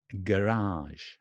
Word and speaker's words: garage: a bit ah ah so it's garage garage garage garage so the stress is in the beginning garage garage garage and